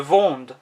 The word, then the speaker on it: vends: Notice that the D isn't overly pronounced. Je vends. Je vends.